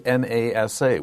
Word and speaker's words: NASA: But N-A-S-A can be said as a word. We don't have to say NASA. We can say NASA.